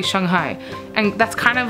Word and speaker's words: Shanghai: the city's name like in America we say Shanghai Shanghai right but it's really Shanghai and that's kind of